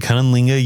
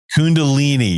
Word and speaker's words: Kundalini: So what is you said Kundalinga yoga? Did I say that correctly? I don't think I did. Kundalini was the Kundalini. Yeah, I definitely butchered that.